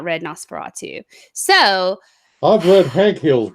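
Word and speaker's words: NOS4A2: son and it's called Nosferatu it is that's how it's pronounced but it is spelled out like kind of like a license plate so you know s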